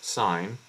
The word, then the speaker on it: sin: sign uh name so s i n as we pronounce sign but then the S